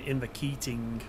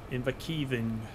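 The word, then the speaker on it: Inverkeithing: That's one of the ones that I pronounced wrong in the summary video that I did. I think I was saying Inverkeeting. Inverkeeving it is.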